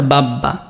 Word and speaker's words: বাবা: যেমন তোমার দেখো বাবা, তা বাব্বা, এটা বাবা, বা বয়ের সাথে, যে এখানে বলে দিচ্ছি যদি বয়ের সাথেও যদি ব থাকে তাহলেও সেই বয়ের কি হয়, উচ্চারণ হয়, যেমন বাব্বা।